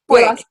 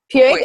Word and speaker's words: Puig: Did I pronounce that right? Puig. Puig? Okay. Puig, like I'm so white, it's not even funny.